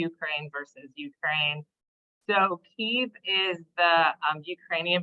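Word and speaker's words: Kyiv: are we calling it cave now and not Kiev um you know I think a lot of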